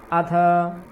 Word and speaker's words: अथ: अथ अथ थकार का पूर्ण उच्चारण करना है।